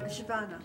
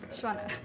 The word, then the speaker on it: Svana: Shwana. Shwana.